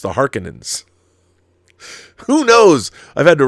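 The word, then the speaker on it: Harkonnen: Cheney Cheney not Chie and apparently they were mispronouncing everything in David Lynch's Dune because it's not the har conans it's the Harkins who knows I've had to readjust my entire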